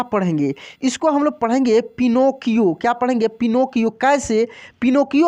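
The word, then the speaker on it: Pinocchio: यहाँ पे देखिए PIPNO, नो, पिनो। देखिए यहाँ पे सी को हम लोग क पढ़ रहे हैं, ठीक है।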